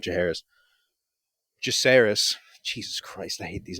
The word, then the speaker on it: Jacaerys: It's more so Damon and Jaharis, not Jaharis, Jacaerys.